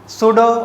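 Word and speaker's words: pseudo: Let's see next topic, सूडो और fictitious force या आभासी छद्म बल। इसका ध्यान रखना, सूडो बोलते हैं, हालांकि स्पेलिंग पी से स्टार्ट होती है पर पी यहाँ पे साइलेंट है।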